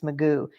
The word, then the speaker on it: Mugu: base up there, and it's Magoo. But they don't spell it the same way Mr. Magoo did. It's Mugu. Because they said that's the only way we remember it. By thinking of Mr. Magoo, we can remember it's Magoo Rock.